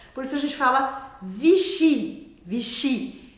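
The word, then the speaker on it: Vichy: uma mais simples para acalmar o seu coração vichi vichi as palavras em francês em geral vão ser oxítonas a última sílaba é a que é a mais forte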